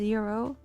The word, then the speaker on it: gyro: Why is it written as gyro when it's pronounced as Euro? Gyro is a mechanical thing. It is like gyroscope. It's not gyro. No, it's Euro. It's a Euro.